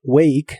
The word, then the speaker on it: wake: La letra E del final de wake no se pronuncia.